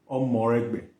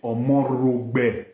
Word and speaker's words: Omoregbe: Omoregbe. Edo will say Omorogbe. See this thing. Edo will go call our Omo. That one be Edo own. Esan no dey pronounce like that.